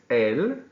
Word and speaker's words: él: It's pronounced the exact same without an accent, which is saying the.